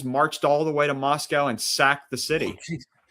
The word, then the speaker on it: Moscow: The Poles marched all the way to Moscow and sacked the city. You you pronounce it like moss and the thing that eats grass and we get milk from Moscow.